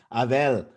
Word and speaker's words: Abel: annette i appreciate it i like the way you pronounce my name too it feels like that's that's how my grandmother used to call me avel but yes thank you